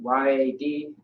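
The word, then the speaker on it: יד: So Y-A-D. Yeah. Yad or yad is how you pronounce it, which means hand.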